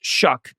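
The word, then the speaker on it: Shough: Tyler Shuck, spelled S H O U G H, but it is pronounced Shuck.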